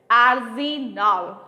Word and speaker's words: Arsenal: वी से इट आर्सेनल। Break किया, spelling को प्रोनाउंसिएट किया, ARSENAL, आर्सेनल।